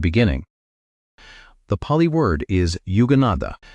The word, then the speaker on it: yuganaddha: The Pali word is yuganaddha. Say it like yuganaddha.